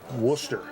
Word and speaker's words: Worcester: It's W pronounced- like a rooster, but with a W. Worcester.